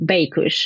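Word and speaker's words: Beykush: That same winery, how did you pronounce them? Baikush.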